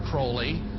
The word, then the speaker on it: Crowley: be have his name pronounced Crowley to rhyme with holy and the satanists today